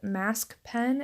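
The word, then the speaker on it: Masquepen: there's also a product called mask pen it's spelled ma s qu e and then pen P en and it's like a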